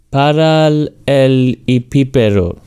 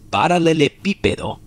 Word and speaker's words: paralelepípedo: Paral el hipípero. Casi, casi. Es paralelepípedo. Fíjate en la última parte. Lípedo.